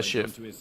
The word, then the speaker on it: Schiff: Richard Schiff? Yeah, Richard Is that how you Schiff. pronounce Yeah, it? Schiff. SCHIFF, right? Yes. Yeah, Schiff.